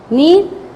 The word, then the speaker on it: kneel: Kneel, kneel. There is a kneel in number 6. K. In this word, K is a silent word, and this rack.